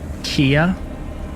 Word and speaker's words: Keya: Kia? Like IKEA? Like IKEA? No. Pronounced like that, spelled different.